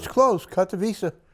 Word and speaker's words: Katowice: I don't know how to pronounce it. That's close, Katowice. Katowice, Yep.